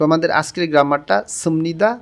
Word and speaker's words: 습니다: এখানে দুইটা রূপ আছে, যেমন একটা হচ্ছে সুমনিদা, বিয়োগ ভাচ্ছিমের পরে যখন নিয়ন আসে তখন এই বিয়োগটা ম উচ্চারণ করতে হয়, এখানে উচ্চারণ হবে সুমনিদা।